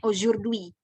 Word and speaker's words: aujourd'hui: Nah, dibacanya aujourd'hui. Jauh kan ya cara bacanya dengan tulisannya berbeda sekali.